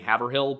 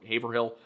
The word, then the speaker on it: Haverhill: I I had like eight different ways of pronouncing this given to me in the comments. We have places nearby that are Haverford and Havertown. That's why I've been saying Havill, but I guess it's Haveril or Haverhill.